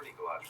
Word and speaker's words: Nikolaj: I'm your father, Nikolaj. It's pronounced Nikolaj. Nikolaj. Nikolaj. Nikolaj. Nikolaj. Nikolaj. Nikolaj. Nikolaj. Nikolaj. Okay, just take it wrong.